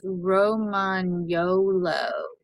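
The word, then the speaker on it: Lagotto Romagnolo: yellow and I've got a really good name lagoto Roman YOLO it's Roman YOLO so let's name her YOLO yeah Tanner was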